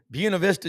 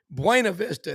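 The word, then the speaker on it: Buena Vista: I called it Buenav Vista and they were going Brown, you are in in the South. It's Buuna Vista and some of the folks down there called Buuna Vista.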